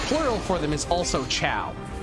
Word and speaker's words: Chao: Why is it pronounced chow? It's kind of, because like, the chow are, the chow are silly little dudes. They're little guys, and I love them to death. Because it's spelled C-H-A-O.